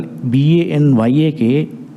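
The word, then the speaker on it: banyak: By Malay language, near sound is coming in Y. Example, B-A-N-Y-A-K, they are pronouncing as Banya.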